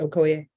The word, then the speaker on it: Okoye: stated that the victim the murder victim Mr Okoye um am I pronouncing that right is it Okoye um it's good that's good for me okay